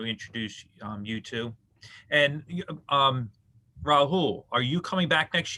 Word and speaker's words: Rahul: um rahul it's you have to pronounce the l also okay can you say i mean you just pronounced every letter you see rahul yeah okay if i